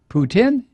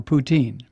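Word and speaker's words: poutine: our strangest culinary Discovery I've heard pronounced two ways poutin or poutin either way it's great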